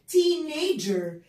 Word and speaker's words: teenager: وبعد كده age في ناس بتقولها teenager ولكن الجي تتنطق ج ج جي, عشان كده بقول teenager teenager teenager teenager.